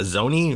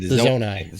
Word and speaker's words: Zonai: I think it's pronounced Zoni. Oh, maybe. Yeah. They have like the artwork. Oh, from the Breath of the Wild. Zonai. Right. Yeah. Sorry, the Zonai.